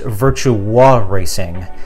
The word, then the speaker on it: Virtua Racing: And I told you 100 times, it's pronounced virtua racing.